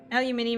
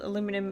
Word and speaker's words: aluminium: Aluminium is how the discoverer actually pronounced it. The American way, science very quickly called aluminum instead, and it's been like that in the good text ever since.